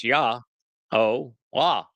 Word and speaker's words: Yahowah: Therefore, it is Yahowah. Not complicated. And if you're still tied up in a tizzy fit again over the pronunciation of the Wah, consider how the O sound is derived in Shalom.